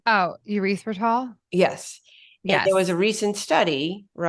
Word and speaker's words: erythritol: And in the cookbook, in the recipes, a lot of the recipes have the ingredients, and I'm going to pronounce it wrong. Ethyl. Oh, erythritol?